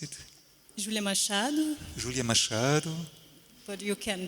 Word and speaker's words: Júlia Machado: So Júlia Machado, how do you pronounce it? Júlia Machado.